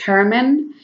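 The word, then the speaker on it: Germán: husband his name is hermann so actually his name was german um but in spanish you pronounce it herman so he went with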